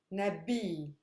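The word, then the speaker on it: نبي: is super heavy because it's made up of a consonant long vowel consonant so this is where my stress lies listen samir which means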